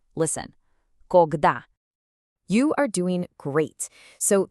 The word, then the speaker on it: Когда: This word has 2 syllables, and you're going to want to put the stress on that second part. Listen. Когда.